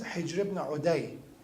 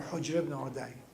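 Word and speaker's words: Hujr ibn Adi: Many companions of Imam Ali alayhi salam, one of them is Hijr ibn Uday, or Hujr ibn Uday, or Adi, they're all pronounced.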